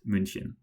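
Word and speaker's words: München: example to German pronunciation because Munich is munchin starting with the same letter.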